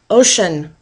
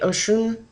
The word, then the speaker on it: Oshun: I love how her name, and I don't even know if I'm saying it right, Oshun. But notice, I noticed right away how she's sitting in waves, and it reminds me, her name sort of sounds like ocean.